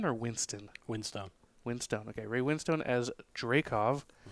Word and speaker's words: Winstone: Ray, is this Ray Winstone or Winston? Winstone.